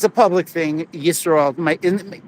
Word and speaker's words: Yisroel: Yisroel. People call me Israel, but it's spelled with a Y.